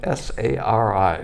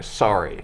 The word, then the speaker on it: Sari: Sari, did I pronounce it right? S-A-R-I, sorry. No, Sari. Yes.